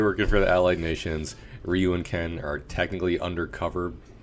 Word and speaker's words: Ryu: I don't know how to say it, because in the movie they say Ryu. In everything else since then, it's been Ryu.